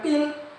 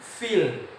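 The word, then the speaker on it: فيل: Bukan fil, bukan pil, tapi bi ashabil fil.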